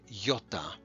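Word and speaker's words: γιώτα: under that is called yota yota and yota is just its name its sound is a long e okay like we might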